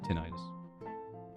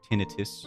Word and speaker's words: tinnitus: And it's not like it's life-threatening to have tinnitus or tinnitus, depending on who you're talking to. Really, pronunciation just changes.